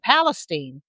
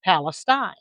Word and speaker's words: Palestine: Bernett, not Bernett, and Palestine, not Palestine.